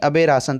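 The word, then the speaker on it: aberration: तो एबरेशन यानी अबे राशन। तो हमारी ट्रिक क्या बन गई? इसका प्रोनाउंसिएशन निकल आया अबे राशन।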